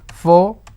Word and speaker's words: photography: Now if I have to break it into syllables, I pronounce this as photography. How many syllables do I have? I have 4 syllables, but I have only 3 vowels.